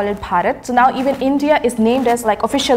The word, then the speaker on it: Bharat: First parat and second Hindustan. So mostly people say bharat more. It's easier. That is the main pronunciation of our country.